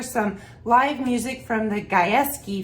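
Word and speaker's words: Gajewski: live music from the guys key family so guys is spelled g-a-j-e-w-s-k-i isn't that cool and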